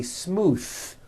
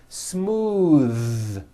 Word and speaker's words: smooth: ends of words smooth believe it or not the th sound in smooth is voiced most foreign speakers say this word incorrectly they say smooth with an unvoiced th but it's voiced smooth bathe the word bath